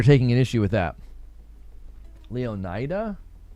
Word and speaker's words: Leonida: Leonida Leo like emphasis on the O.